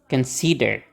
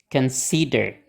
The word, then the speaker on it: consider: kan sama aja Oke coba ho ho Consider Consider Oke mempertimbangkan tadi Consider nih